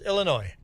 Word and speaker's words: Illinois: So you're from Illinois yourself and the S is silent. There we go. Just Illinois.